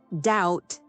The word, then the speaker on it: doubt: About 500 years ago, a small group of men sitting in a room decided that the word doubt needed a B, even though no one would ever say it.